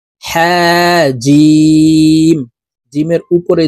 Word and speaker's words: ج: শুদ্ধ করে পড়তে হবে, জিম হরফ জিহ্বার মধ্যখান থেকে উচ্চারণ করব।